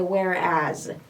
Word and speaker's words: whereas: Notice here I have S. لاحظوا هنا عندي S ولكن ننطقها Z sound. Okay? Whereas.